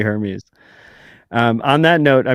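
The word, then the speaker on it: Hermès: go with the uh is Hermes right I'm gonna go with Hermes the French uh clothing line it's definitely Hermes um on that note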